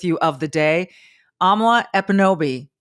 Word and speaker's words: Ekpunobi: Amala Ekpunobi. Don't pronounce the K, folks. You'll see it there, but it's silent.